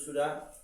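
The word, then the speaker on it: ثاء: এই সাটা নরম হবে, একদম নরম হবে।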